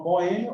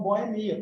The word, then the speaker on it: boemia: Então, dupla pronúncia prosódica tem a ver com a sílaba tônica.